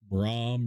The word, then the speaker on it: Brahm: with the b name brahm rhymes with chrome like baxter live lane